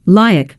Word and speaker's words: Luke: I pronounced his name correctly, Lyack, but he decided to play with it.